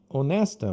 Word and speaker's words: honest: Por exemplo, na palavra honesta, honesto, é honest. Honest, como em português, o H aqui não tem som.